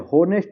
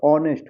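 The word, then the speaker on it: honest: यहां पे देखिए होनेस्ट नहीं होगा। ऑनेस्ट होगा क्योंकि एच साइलेंट हो जाएगा।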